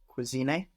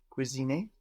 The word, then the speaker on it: cuisiné: cuisiné, Cuisiner sounds the same. No, just we have an E with an accent on the end rather than an ER.